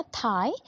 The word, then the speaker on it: tithe: ठीक है, अब ये टैक्सेस थे, पहला थाई, दूसरा टेल। ठीक है, थाई को हम प्रोनाउंस, इसका स्पेलिंग है TITHE, और टेल का है TAILLE।